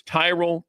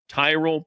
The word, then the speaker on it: Tyrol: It's Tyrell pickleball shoes. You spell it Tyrol. Tyrell pickleball shoes, the best pickleball shoes, purpose-built for pickleball.